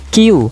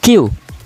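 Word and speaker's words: きゅう: Jadi dalam pengucapan bahasa Jepang agak kita percepat lagi ya dalam pengucapan nomor 9 ya. Jadi nomor 9 ini kita harus pengucapannya harus lebih cepat lagi ya. Jadi seperti ini ya teman-teman, cara pengucapannya adalah Q.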